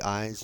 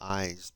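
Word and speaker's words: Ides: day of March considered the eyes or eyes. I d I believe it's spelled not eyes like an eyeball, but I d it's a Latin word, I believe.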